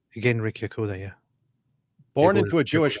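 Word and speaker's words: Genrikh Yagoda: How you pronounce the name? Genrik Yagoda? Genrik Yagoda, yeah.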